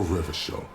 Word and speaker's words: Revachol: People made gold and champagne-tinted interiors and facades for Revachol, your city. That, if it doesn't rhyme, you're not pronouncing it right.